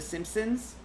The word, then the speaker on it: Simpsons: who for some reason cannot pronounce the N in the Simpsons and say the simpsons have you ever heard anybody do that like if they have like some weird trouble pronouncing the end it I've heard a lot of people like boom watch the simpsons last night it's like there's no second end in that word you